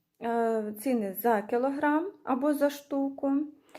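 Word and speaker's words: Stück: ціни вказані за одну штуку Зверніть увагу що с у нас на початку слова якщо після неї знаходиться буква Т вона читається як шин і також є в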